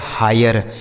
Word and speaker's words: hire: ठीक है, HIRE इसे पढ़ा जाएगा हायर। H से हो गया हा, आई का उच्चारण आए, RE से र, लिखा है हायर।